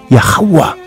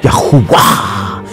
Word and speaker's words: Yahuwah: So that sets aside the name Yehovah or Jehovah or Yahuwah. And it's, they're all pronounced with the ooh sound, as in Yahuwah.